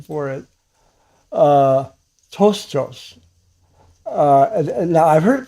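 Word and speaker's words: πτωχός: So tostos, what that said, the P is silent.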